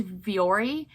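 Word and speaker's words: Vuori: i sold these men's viori u o r v-o-v-u-o-r meta performance pants that's how you say it um these sold for 50.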